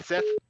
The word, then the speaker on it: scythe: I think he was saying that he likes the way you pronounce scythe, and I make fun of Mitchell for pronouncing the same way you do. How do you do it? As in Seth.